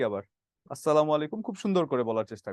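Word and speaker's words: السلام عليكم: এদিক সেদিক হয়ে যায় প্রকৃত যে উচ্চারণ আছে সেটা হচ্ছে আসসালামু আলাইকুম আর অনেক সময় আসসালামু আলাইকুম আমরা যখন খুব তাড়াতাড়ি করে বলি এটা কিন্তু যেকোনো ভাইবাভা বোর্ডে গেলে খুব ধরে এটা কি বললেন আসালামু আলাইকুম কি আবার আসসালামু আলাইকুম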